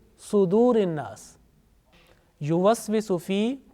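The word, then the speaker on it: صدور: Now this sad, sometimes pronounced unintentionally with fatha, like yuwaswisu fi sudurin nas. So make sure that this sad, whenever you teach to others, this sad with dhamma. Okay? So it means sudurin nas.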